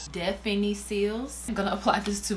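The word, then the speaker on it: Définicils: Difficile. Let's put it in Google Translate and she'll say it for us. Okay, I definitely said it wrong. Listen to this. Definiciles.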